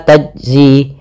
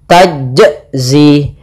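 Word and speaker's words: تجزي: Contoh yaumal la tajzi, ini enggak mantul, maka dia salah. Yang kedua yaitu menambahkan hamzah, misalkan tajzi, la tajzi, ini menambahkan hamzah, atau dia putus, misalnya tajzi, nah ini putus. Harusnya mengalir saja, dia ketika membaca qalqalah dia mengalir. Yaitu gimana? Tajzi, nah seperti itu.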